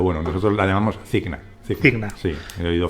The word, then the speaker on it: Cigna: Mi compañía, pues es verdad porque yo lo he oído pronunciar de muchas maneras, pero bueno, nosotros la llamamos Cigna. Cigna. Sí, he oído Ciña, he oído muchas cosas.